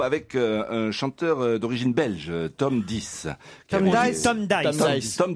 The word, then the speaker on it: Tom Dice: Ouais, là, c'était, non, mais ça se prononce Tom Dice.